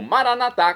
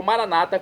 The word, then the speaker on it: maranatá: E agora eu clamo maranatá, como dizemos nós católicos, ou maranata, como dizem nossos irmãos separados das comunidades evangélicas ou protestantes. Não importa a pronúncia, o significado é o mesmo.